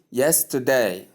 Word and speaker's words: yesterday: Yesterday again. Yesterday. That's great. So stress is placed on the first syllable.